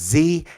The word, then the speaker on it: xe: get is pronounced Z, the XE, commonly pronounced Z, and the XYR is Zir, okay?